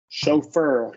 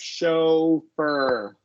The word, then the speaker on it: chauffeur: We're going to do Chauffeur. a long O here. Show. And Okay. then, Not like August. no, long O. And then a Okay. schwa R after the F. Chauffeur.